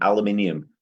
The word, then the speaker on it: aluminium: have you had molly we don't cut out half the letters in aluminium which is the right way to pronounce it okay well next time